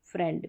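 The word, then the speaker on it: friend: इसमें आई ई है, लेकिन यहाँ पर आई ई का उच्चारण ए करके हो रहा है, जैसे एफ आर आई ई एन डी, तो यहाँ पर बीच में आई ई है लेकिन उच्चारण ए करके हो रहा है फ्रेंड में।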